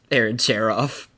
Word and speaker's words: Aaron Cherof: Aaron Cherof.